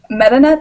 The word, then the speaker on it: Metanet: MetaNet, M-E-T-A-N-E-T.